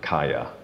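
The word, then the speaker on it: kāya: Now I've heard this pronounced with a K, Kaya, like Dharmakaya. Okay. I mean, it's very similar with the K. But so, and then the other one. Kaya Skanda.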